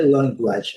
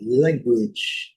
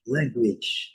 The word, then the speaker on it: language: Então, language, primeira sílaba, como eu sempre digo que é mais forte.